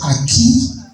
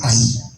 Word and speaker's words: Ayi: Instead of saying Ayi as the name, they said Aki, but the name is Ayi.